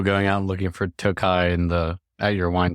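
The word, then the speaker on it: Tokaj: big wine wine store Tokai it's spelled to K AJ right Billy yeah yeah so it looks like toage so so you can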